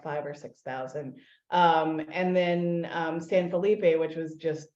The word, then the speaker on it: San Felipe: tiny little town called San Philip, or San Felipe. And as Texans always butcher the Spanish pronunciation of all words.